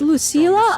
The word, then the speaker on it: Lucila: Wait, it's Lucila. I've been saying it wrong the whole time.